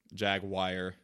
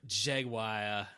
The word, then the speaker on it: Jaguar: no it's it's um it's like a Latin pronunciation yeo-hwa yeo-hwa yeo-hwa wakka